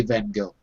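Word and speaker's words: Van Gogh: in America but the real pronunciation is van with a van. In in Dutch you say the g like a so I guess it's van or van but in America we always say van go.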